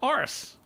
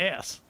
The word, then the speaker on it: arse: Class with arse as opposed to ass. Now it's only a small, minute point of interest. That's all. Only Well- because Class, arse. I see. It's all in the pronunciation. Yeah, because we don't say ass.